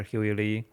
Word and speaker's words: Huey Li: Huey Li.